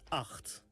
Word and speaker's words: acht: 8 is acht. Acht. Pay attention of the g sound.